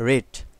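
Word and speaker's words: read: একটা কথা বলে রাখি রিডের B1, B2, B3 তিনটা কিন্তু দেখতে একই, কিন্তু বিভিন্ন গ্রামারে বলা আছে তিনটার উচ্চারণ কিন্তু 3 রকম। যেমন প্রথমেরটা হচ্ছে রিড, এরপর হচ্ছে রেড, এরপর হচ্ছে রেড মানে একটু এগার আসবে। তো এটা যেহেতু B3 মানে হচ্ছে B1, B2, B3, তাহলে এটা রেড উচ্চারণ হবে।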